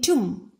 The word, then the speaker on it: tomb: In tomb, B is silent.